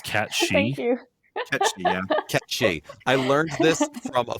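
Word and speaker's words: Cait Sith: It's literally because it's like a Gaelic figure and they pronounce it catchy.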